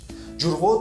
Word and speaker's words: Ҷурғот: The sound of the phoneme ҷ is pronounced more expressively in the following cases: The first case, at the beginning of the word. Ҷурғот (Kefir, sour cream) Ҷурғот – is sour milk.